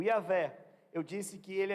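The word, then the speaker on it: Yahweh: Jeová e a velha a gente não sabe pronúncia certa se for transliterar yhwh como é que ele pronuncia isso que a velha é uma possibilidade Ok o nosso Deus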